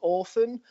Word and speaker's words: ORPHVN: So, the band is called Orphan, but it's spelt with a V because we're obviously really edgy and really cool.